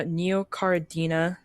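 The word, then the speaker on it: Neocaridina: serendipity on dorado for Neocardinia uh neocaradina that's how you say it yeah apparently it's the name of these like multicolored shrimp.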